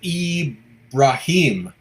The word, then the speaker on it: Ibrahim: Eric says, I think the I is pronounced E in Ibrahim. So it's Ibrahim.